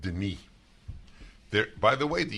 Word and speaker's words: Denis: two ends that's right One n is the French way and it's pronounced Denis there by the way